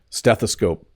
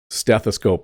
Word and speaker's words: stethoscope: so a stethoscope stethoscope if you break the word into three parts steth a scope um is how it's pronounced this is the thing